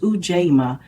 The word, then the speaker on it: Ujima: Day 3 of Kwanzaa is Ujima, pronounced Ujama, meaning collective work and responsibility.